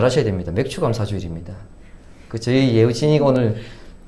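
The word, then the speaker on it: 맥추감사주일: 맥주감사주일입니다. 저희 예우진이가 오늘 그 감사절기 봉투에 맥주감사주일을 맥주감사주일로 그렇게 적었는데 발음 잘 하셔야 됩니다. 맥주감사주일입니다. 보리맥자를 쓰는 것이죠.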